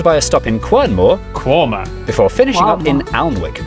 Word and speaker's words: Quernmore: Gotham Gotham followed by a stop in quernmore qumer before finishing up in alwick anik which is